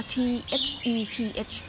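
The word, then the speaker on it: Theph: The Thai word that mean God in the name is Thep or T-H-E-P-H. It's pronounced Thep.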